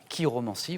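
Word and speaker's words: chiromancie: lignes de la main c'est la K romanciie voilà ch mais qui se prononce K et jadis à Rome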